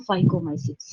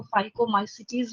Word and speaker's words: Phycomycetes: Category जो है वो लिखती हूँ फाइकोमाइसिट्स। कई टीचर्स को फाइकोमाइसिटीज भी बोलते हैं, कोई दिक्कत नहीं है, स्पेलिंग यही रहनी है, ठीक है।